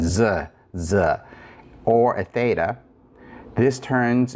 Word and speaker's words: ζ: also the zeta, because if you say z, there's a little bit of a D sound at the end, z, or a theta.